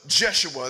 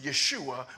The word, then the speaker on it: Yeshua: mind one heart one purpose then stood up jeshua that's actually pronounced Yeshua which is the exact name that Jesus had amen his name wasn't Jesus that's a latinized that's a romanized name amen his name was Yeshua the son of josc and his Brethren the